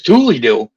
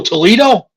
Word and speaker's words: Toledo: about it what the is Tulie do and then he showed me he said it's right I said oh Toledo OH he goes That's how you pronounce it